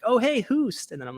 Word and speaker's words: Hoost: Or if you want to find my personal accounts, you can find me at it's HOOST, pronounced Hoost, and the numbers 07.